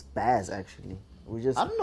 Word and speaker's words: Bas: Not Bars. It's Baz actually. We just. I don't know how you pronounce it.